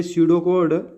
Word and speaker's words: pseudocode: देता ठीक है ये कहता है कि य सीडो कोड प्रोनाउंसड सो ड कोड is another way of representing